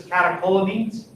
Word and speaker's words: catecholamines: the case, but like when you see it in anatomy, medical, whatever, right? Pronounce it as a hard K.